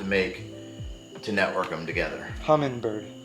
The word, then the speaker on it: Humminbird: to network them together hummingbird not hummingbird there's no G next to the end humming there you go hummingbird if you